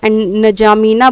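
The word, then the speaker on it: N'Djamena: इसको नजामीना बोलते हैं, लिखते हैं मतलब कि लिखते हैं NDJAMENA है, नजमीना बोलते हैं, ऐसे करके प्रोनाउंस करते हैं।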